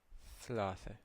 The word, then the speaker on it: ثلاثة: So Th, ثلاثة, ثلاثة, ثلاثة, ثلاثة, ث, ث, ثلاثة. We have Jim, and it's pronounced J, J, J, J, as in Jamia, Jamia, university.